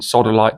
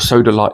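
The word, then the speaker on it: sodalite: uh lazurite calcite pyrite and sodolite to a lesser degree or soda light depending on how you fancy pronouncing it now lapis is perhaps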